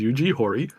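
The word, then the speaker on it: Yuji Horii: the primary Developers for it uh eugi um Yugi hori and I did look up how to pronounce his name name properly and apparently that's the way you pronounce it is eug Hy um he is 70 and he is still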